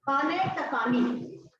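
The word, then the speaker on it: خانه‌تکانی: Well, I found the name, but I couldn't pronounce it correctly. And they said it's called Khana Takani.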